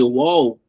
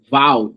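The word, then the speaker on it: Waal: Eh, há também eh na área da biologia, eu tô lembrando aqui daquele France the wall, né? W A L, minha pronúncia sempre vai sair ruim, eh, Val, né?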